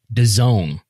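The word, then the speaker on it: DAZN: not exclusive uh they can still be on daz and they could still be nbn sports and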